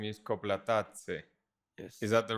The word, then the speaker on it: Koplatadze: And your last name is Koplatadze. Yes. Is that the right pronunciation? Kind of. Close. What's Close. the right pronunciation? Koplatadze. Koplatadze. See. So it's like an accent in the middle.